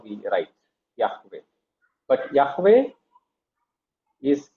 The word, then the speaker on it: Yahweh: In the German Bible even if it is J they will pronounce it as Y only. Okay. So that is the mistake. All right. So it is Yahweh and we use the